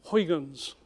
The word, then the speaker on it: Huygens: Saturn um was called Hans or if you pronounce it in Dutch as it should be it's some sort of coughing sound um as they say